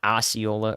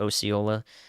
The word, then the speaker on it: Osceola: near Roscoe and uh Osceola or Osceola different states different pronunciations for the same thing so my my best